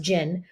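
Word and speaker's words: djinn: I'm pronouncing this right but it starts with jin dj i n and it's an Islamic mythology the oh it's pronounced jin uh are powerful beings made of smokeless fire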